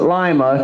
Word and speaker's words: Lima: First, they name their city after a foreign capital to make it sound fancy, like Lima, but then they pronounce it Lima because they thought the bean would bring in more tourists.